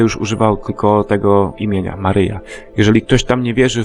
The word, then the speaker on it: Maryja: koniecznie przez jego matkę Jego Matce jest na imię Maria jednakże w kościele katolickim to imię się skrzywiło i wymawia się jako Maryja No ale nieważne w